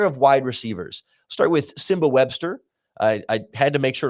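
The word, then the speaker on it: Nsimba Webster: Start with Simba Webster. I had to make sure to look up how to pronounce his name because it's spelled Nsimba, but the internet tells me the N is silent and I'm going for it.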